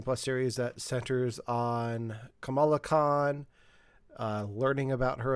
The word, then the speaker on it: Kamala: um well that's com that's camilla this is kamala oh i thought it was spelled the same it's spelled the same it's pronounced differently oh okay all right